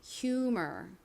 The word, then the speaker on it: humor: humor.이 단어를 한국식으로는 유머라고 표기하고 발음하는데요. 실제 원어 발음은이 H가 소리가 납니다. 히 소리가 나요.